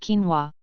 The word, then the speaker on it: quinoa: Pronounced quinoa.